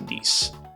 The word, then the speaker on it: Nice: flesh for nice again nice but pronounced nice after the French Beachside City I don't remember